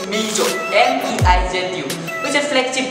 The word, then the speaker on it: Meizu: This time China has launched the Meizu Pro 7, which is very hard to pronounce. It's Meizu, M-E-I-Z-U, which is a flagship device from Meizu company.